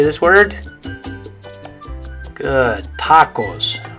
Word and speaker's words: tacos: So if it was an English word, we'd probably say tacos, or tacos, or tacos, or something like that, right? But the correct way to say it in Spanish is tacos.